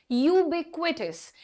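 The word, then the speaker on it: ubiquitous: भी करती थी बट the correct pronunciation is यूब क्विटस यूबिक्स का मतलब होता है कोई भी ऐसी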